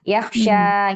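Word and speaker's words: يخشى: Yahya ini dibaca panjang ustazah yang di marfu. Betul. Iya. Yaksya gitu dibacanya panjang.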